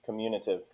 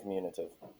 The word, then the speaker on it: commutative: It is most commonly mispronounced commutative, but it is not commutative.